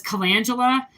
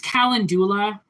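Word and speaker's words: calendula: Some people pronounce it as kangula. It's kalandoula, but potato potato wherever you're from.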